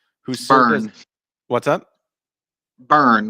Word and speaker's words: Byrne: Burn, like B-U-R-N. That's like how it's pronounced. He's just fancy and throws a Y in there instead.